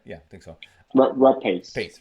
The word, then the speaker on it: Rapace: Rapace. Pace, right? Oh, whatever her name is. R A Oh, R A right. P A Yeah, there C you go. Mix Rapace.